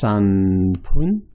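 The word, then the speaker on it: 三分: 2分 Sun is different too. That's pronounced sanpun. 4分 as well, I think.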